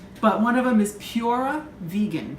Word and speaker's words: PuraVegan: But one of them is PuraVegan. That's P-U-R-A, PuraVegan Cafe. Just wanted to spell it out so you didn't think I was just saying pure wrong.